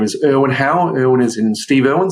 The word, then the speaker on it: Hau: my name is win how win is in Steve irn so I are w n how is in how do you do but pronounced that way